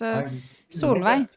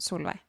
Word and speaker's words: Solveig: They're asking about the pronunciation of my name if it is the same as in Swedish. Uh and I think it is. I think it's also a normal Swedish name. So, it's Sulvi. That's their pronunciation. Sulva.